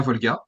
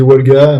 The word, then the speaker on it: Wolga: parler donc de Volga. Je prononce bien ton nom de famille? Oui, Volga, c'est ouais, ça? ouais, ouais, ouais. Ok, Bon, après, je suis pas Horté si tu dis Wolga, mais voilà, à ok, ça l'usage, on marche.